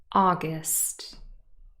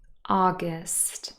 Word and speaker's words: August: to put the stress the first word august august stressed on the first syllable this is the month